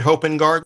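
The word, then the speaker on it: Hopengarten: let's hear from Fred now Fred am I pronouncing your name correctly hoping guard correct thank you thank you very much Fred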